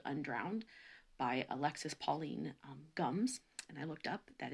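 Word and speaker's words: Alexis Pauline Gumbs: been reading this new book called undrowned by alexis pauline gums and i looked up that is how you pronounce her name properly so um and we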